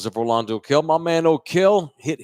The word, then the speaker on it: Orlando: Look him up, Orlando, O-R, like Orlando, Florida, but Orlando, they pronounce the A like Orlando Kell.